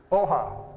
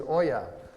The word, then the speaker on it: Oja: i was known as oha because it's oja and here i get called oja and everything else but the correct pronunciation is oya and it's finnish um but i've been